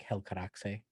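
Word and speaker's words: Helcaraxë: like i like pronouncing i know it's like hell karaxi right but i think i say hell corrects as well yeah hell correct sounds better yeah um so they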